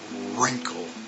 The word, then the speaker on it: wrinkle: one like uh oh wrinkle and all you hear is R you don't hear any w so again with